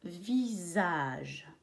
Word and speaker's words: visage: Par exemple, un visage. Qu'est-ce que tu remarques? Qu'il y a un S et il se prononce visage. Il se prononce Z.